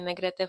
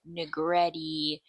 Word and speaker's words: Negrete: cuz they can't say, "I don't expect you to roll your Rs when you say negrete." But I hate when people like growing up I have the trauma of people were like negretti negret like just all